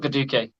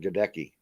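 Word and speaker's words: Luke Goedeke: Phonetically challenged. Yeah. I like that one. Luke Geteke, not Gaduke.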